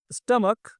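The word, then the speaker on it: stomach: फिर इसके बाद में क्या है, स्टमक, स्टमक का मतलब क्या होता है, पेट, यानी कि लास्ट वाला जो है क प्रोनाउंसिएशन हो रहा है, इसमें हम क्या जोड़ देंगे, S, यानी कि स्टमक्स हो जाएगा आपका।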